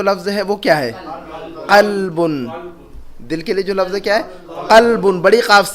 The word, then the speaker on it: قلب: قلبن. دل کے لیے جو لفظ ہے کیا ہے؟ قلبن، بڑی قاف سے قلبن.